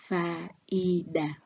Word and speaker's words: faida: These are 3 syllables. Faida, despite the fact that 2 vowels A and I are close together, but they stand as different syllables.